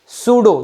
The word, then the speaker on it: pseudo: P silent है बेटा, पी सूडो force नहीं बोलना उसको, सूडो, सूडो फोर्स।